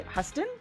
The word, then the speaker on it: Huston: So this is Huston? Sure. Okay. I'm gonna say Huston. Houston. Yeah. Spelled like Houston without an O.